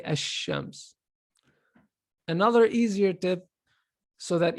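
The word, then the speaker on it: الشمس: Whenever there's a shadda, so this is, you say ash-shams, you drop the lam right away.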